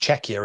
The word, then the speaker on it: Czechia: couple no don't don't isn't it not it's pronounced czechia isn't it not CA yeah check it c